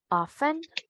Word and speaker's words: often: Entonces, correctamente, often, listen, listen, listen. Often, listen.